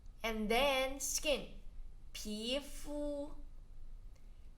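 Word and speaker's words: 皮肤: And then skin, 皮肤皮肤 we have learned this before 皮肤 P second tone, fu flat tone.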